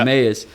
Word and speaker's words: Emmaus: This is Emmaus, right? I'm saying it right. Yes, sir. Yeah. Emmaus.